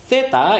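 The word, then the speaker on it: zeta: Theta itu adalah huruf Z di bahasa Indonesia, di bahasa Spanyol dibacanya theta.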